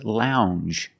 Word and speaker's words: lounge: word is lounge Lounge it makes the regular n n plus the J Lounge it follows the same pattern as orange and change NJ it's a regular n n plus the soft J sound Lounge a lounge is